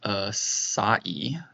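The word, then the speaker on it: açaí: It's pronounced acai.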